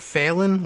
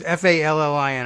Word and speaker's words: Fallin: Does they pronounce it Phelan? Like, I'm failing at my job. It was Fallin.